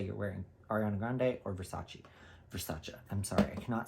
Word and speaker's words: Versace: you rather say you're wearing Ariana Grande or Versace Versace I'm sorry I cannot say Versace people call it Versace and that's not what it is it's Versace I will always watch that video of Donatella